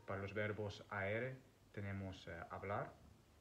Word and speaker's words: hablar: We have the verb hablar, the H is silent, so hablar, which means to speak, or matar, which means to kill, matar.